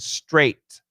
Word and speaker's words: straight: Sucre, coach, the word street and straight. Yeah. So to the American, they're very different. The street is called a long E and straight is called a long A.